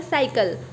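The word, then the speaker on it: cycle: वैसे ही second example साइकिल, first सी के बाद वाई है तो इसे हम स प्रोनाउंस करेंगे, सेकंड सी के बाद एल है तो हम इसको क प्रोनाउंस करेंगे।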